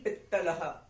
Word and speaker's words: पित्तलः: ई की मात्रा कैसे? छोटी है, अगर बड़ी होती तो पीतलह, पर अब छोटी है तो हम क्या बोलेंगे? ई, पित, पित्तलः, आधा त आया, पित्त पित्त पित्त, समझ रहे हैं? मतलब कि हमें आधा त को हमें कैसे प्रोनाउंस करना है, इत इत इत, ठीक है जी।